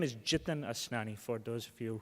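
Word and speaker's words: Jitin: back my name is jiten Osmani for those of you who see me around and don't know how to pronounce my name is sounds like kitten with a J so common well common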